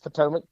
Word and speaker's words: Potomac: Yes, Potomac.